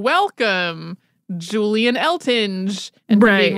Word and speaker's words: Eltinge: mean I I want to say elting just reading it because there's an e on the end right but no so for today it's elting and Julian elting was